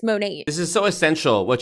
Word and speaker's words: Monat: compassion for her situation why isn't she pronouncing it correctly it's monet this is so essential